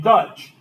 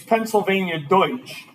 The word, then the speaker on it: Pennsylvania Deutsch: Pennsylvania Dutch before it's not p psylvia Dutch it's Pennsylvania Deutsch because so many Germans settled in the in the region and it just kind of becomes this like manipulation or or you know mispronunciation um so now you know that next time you go to Pennsylvania not Dutch yeah all